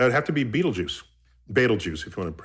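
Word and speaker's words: Betelgeuse: Yeah. It's it's actually Arabic. Oh, is that And maybe I'm not even pronouncing it right, but it's definitely not Beetlejuice.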